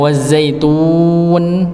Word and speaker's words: wazzaitun: Maka pembacaan wazaitun itu ditarik nggih lebih baik, bukan dipotong masuk ke nunnya.